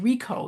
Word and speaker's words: Richo: The authors, yes, Sonia, David Rico. You pronounce it Rico, but it's spelled Richo.